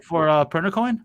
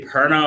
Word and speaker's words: Pernicoin: So Okay, what for Pernicoin? Yes, Okay. that's the correct pronunciation. People Why? pronounce it differently. How do some people say it? I don't know. They say Perna, or they just don't know.